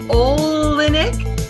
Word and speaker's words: Oleynick: Hey everybody, I am here with Paul Oleynick. You got it. I got it. Yay! You got it. You just don't have to pronounce the Y. It's pretty simple.